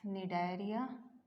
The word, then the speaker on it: Cnidaria: Porifera, Coelenterata, also known as Cnidaria. C is silent here, and this Coelenterata is also known as Cnidaria.